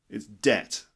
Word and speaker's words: debt: debt you know it's these lips should not meet when you say that word so it's not depth and it's not depth or depth it's debt okay for example many